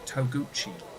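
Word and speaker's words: Togouchi: No, this one is pronounced Toguchi.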